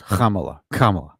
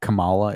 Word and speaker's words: Kamala: It's Kamala. Not Kamala. It's Kamala.